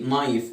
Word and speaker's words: knife: الكي هنا سايلنت. اي كي وراها ان الكي سايلنت. when the letter K n comes after the letter K we don't pronounce the letter K. knife ولونج اي نايف.